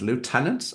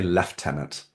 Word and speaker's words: lieutenant: to pronounce leftenant as Lieutenant I get it but here in the UK and other parts of the world we say left tenant I have to get